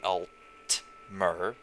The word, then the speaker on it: Altmer: m ER and the high elves are the alt mirror spelt alt and er slight difference and well